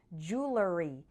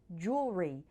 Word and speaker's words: jewelry: this word is that some people pronounce it with three syllables like jewelery and others say it more like jewelry with two syllables the pronunciation with three